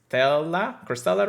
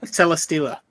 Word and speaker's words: Celesteela: saw, was the one for the release of Crystella, right? That's how you say it. Um. Oh shoot. Oh my gosh. Celesteela.